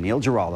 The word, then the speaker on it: Neil Giraldo: and her musical collaborator, lead guitarist, co-producer, who also happens to be her husband, Neil Giraldo, along with Frank Lynx and Myron Grombacher. Did I pronounce it right?